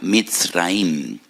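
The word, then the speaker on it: מצרים: amargura de la esclavitud porque la palabra Egipto en hebreo se pronuncia misraim y en hebreo hay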